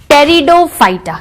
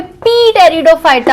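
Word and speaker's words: Pteridophyta: टेरिडोफाइटा। क्या होगा students? टेरिडोफाइटा। टेरिडोफाइटा। आप बोलोगे पी टेरिडोफाइटा होना चाहिए, नो, पी इज साइलेंट। क्या है? पी साइलेंट है।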